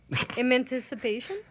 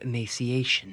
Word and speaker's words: emaciation: The Wendigo was gaunt to the point of Emancipation? The Wendigo was gaunt to the point of emaciation. Oh, emaciation. Oh, okay. I say it wrong.